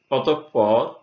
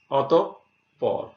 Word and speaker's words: অতঃপর: যেমন অতঃপর, এখানে বিসর্গ আছে, এই জন্যে এখানে প দ্বিত্ব হয়েছে, অতঃপর।